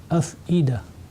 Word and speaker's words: أفئدة: En fait, on la prononce comme un alif. Donc, on va dire af'ida.